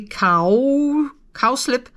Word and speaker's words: cowslip: You get an idea of the color here, but this one, cow, I actually think that I divided the word wrongly. Cowslip, I think it's pronounced.